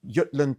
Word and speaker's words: Jutland: from which is the Yutland Peninsula Jutland some pronounce or Yulan in Danish I say Yutland because that's what it should be called but um the Yutland